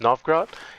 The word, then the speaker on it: Novgorod: This building, which is pronounced Novgorod, it has another special building which gives me martial also.